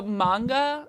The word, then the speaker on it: manga: Manga, please. Is it so? Manga is the correct way to say it, not manga.